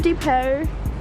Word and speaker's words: Depot: Home Depot. People say the Home Depot. All right. If you really think about it, it's Depot, not Depot. No, the T silent.